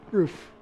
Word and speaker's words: RUF: a very particular thing as it's pronounced how it's spelled roof roof rough can't do that the